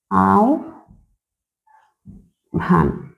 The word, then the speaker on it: আহ্বান: হচ্ছে এই আহ্বান কিন্তু আমি যখন উচ্চারণ করব তখন আমাকে লিখতে হবে এভাবে আও ভান ঠিক আছে এরপরে ধরেন